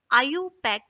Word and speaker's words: IUPAC: the second one is iupac system it is pronounced as iupac system trivial system is the oldest system of